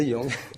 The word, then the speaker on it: Zhejiang: Vous venez de Wenzhou, c'est dans la province de Zhejiang. Je prononce correctement. C'est ça, Zhejiang.